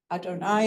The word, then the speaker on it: Adonai: world but it's this y Adonai as we pronounce those letters that is our God